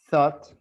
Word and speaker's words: thought: Oh, It's very similar. One is with TH, one is with no H.